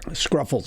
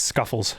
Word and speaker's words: Scuffles: No, there's no R. It's Scuffles.